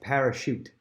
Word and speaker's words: parachute: Next, parachute. That has a sh sound, like typically S-H, sh. And that's made with a C-H here.